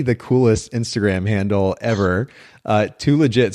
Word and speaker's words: THULEGIT: And you have maybe the coolest Instagram handle ever, Too Legit. So it's spelled THULEGIT for those of you listening in.